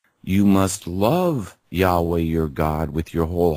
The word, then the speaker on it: Yahweh: God's name is Yahweh. Yahweh, yeah. There's actually a closer pronunciation, Yahuwah. But Yahweh works.